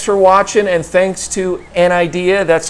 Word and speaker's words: Anidees: well everybody thanks for watching and thanks to an idea that's how you pronounce it it's actually their headquarters is in